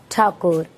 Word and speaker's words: Thakur: Rabindranath Thakur. Thakur was difficult for British officials to pronounce correctly, so it became Tagore in English documents, writings, and public references.